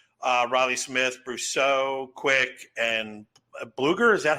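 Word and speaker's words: Blueger: They added really nothing, but they did shed, Riley Smith, Brousseau, Quick, and Bluger.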